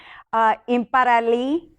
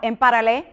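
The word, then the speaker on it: Imperiale: fully sparkling Imperial collection, or shall we say in Italia, Imparali. Did I say it right? No, Imparale. Well, whatever.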